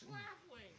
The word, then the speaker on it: Schlafly: It's Schlafly.